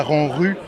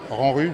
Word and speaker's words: Ranrupt: ça en Rut à Rang Rue sans péter. Ranrue parce que le P et le T ne se prononcent pas.